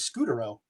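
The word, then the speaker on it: Scutaro: Yeah, they follow uh Marco I know they they follow uh Marco Scoo oro, however you prefer pronounce his name. I've always heard it as Scootero.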